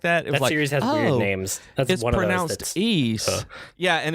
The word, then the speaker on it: Ys: newest Nintendo Direct video when they pronounced it they were like East the lacrymosa lacrymosa of Dana like hermosa of Deus something like that it seems ease yeah and it's weird